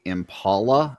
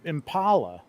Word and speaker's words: Impala: Apparently, people in California say Impala like like the name Paula because that's what